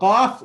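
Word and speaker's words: ق: off the letter off so off is pronounced when contact is made between number one the back of the tongue we see the back of the tongue and right above it the soft upper palate so all the way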